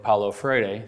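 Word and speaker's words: Paulo Freire: by the name of Paolo Friday that we will talk about quite a lot since I said it I think correctly with the Portuguese I'll spell it for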